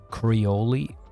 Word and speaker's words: Creole: So the E is just silent.